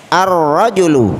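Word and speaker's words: الرجل: adalah huruf roh harford cara membacanya sumber tepat Seperti apa gejala contoh arrojulu Jadi al-nya tidak kita baca ya kita baca langsung ke huruf pertama dari kata rojulun jadi eh cara yang tepat adalah arrojulu artinya Hai laki-laki dewasa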